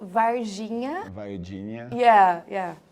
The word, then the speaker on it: Varginha: say the name of the town It's Called Virginia Virginia yeah yeah it's great bom no